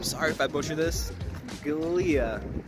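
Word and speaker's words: Giulia: Today, my boy Alex lended me the keys to his Alfa Romeo, and I'm sorry if I butcher this, Guilia. Pronounce it Julia.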